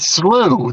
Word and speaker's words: Slough: you say that word SLO SL slow SL as far as slout yeah we would say that slooh that would be like you know like not far from my house Getty slooh yeah yeah like SP